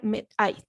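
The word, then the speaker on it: μέθη: Y se pronuncia metai.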